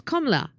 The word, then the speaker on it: Kamala: pronunciation of kamla is KLA the second syll syllable a is very short and the third syllable a is long thank you so much